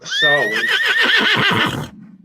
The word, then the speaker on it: Samhain: In modern times, phonetically said, Sam Hain, Scots Gaelic, pronounced Sarwin.